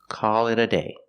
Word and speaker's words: call it a day: call it a day pronunciation that t in it sounds like a fast D call it a call it a call it a day I'm tired I'm ready